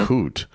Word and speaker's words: Coote: There, in addition to that story, there's the story about the referee, David Coote. Is that how you pronounce his name?